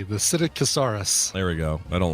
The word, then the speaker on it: Psittacosaurus: Yeah, the only you just don't pronounce the P, the Psittacosaurus.